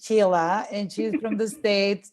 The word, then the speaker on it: Sheila: lost but it's okay but it's written shayla but the pronunciation is sheila and she's from the